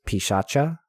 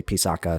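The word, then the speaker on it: piśāca: actually heard professors say Paka so it's totally fine it's a matter of like C is supposed to be CH and K is supposed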